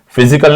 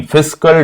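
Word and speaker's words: fiscal: दोबारा से सुन लीजिएगा फिसिकल डेफिसिट फिजिकल नहीं फिसल डेफिसिट आप कभी भी देखिए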